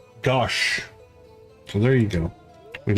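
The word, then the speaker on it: gauche: Pronounced gosh.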